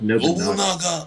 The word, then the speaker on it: Nobunaga: Tikaru uses Masashi and Makoto uses it's pronounced Nobunaga.